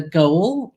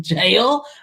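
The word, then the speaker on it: Gaol: the visit to the the goal the jail Melbourne goal J it's spelled g a o with Ned Kelly um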